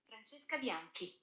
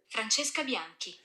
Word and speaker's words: Francesca Bianchi: Let me see if I can translate that for you. Francesca Bianchi. Let's do that one more time. Shout out to Siri. Francesca Bianchi. That's how you say it.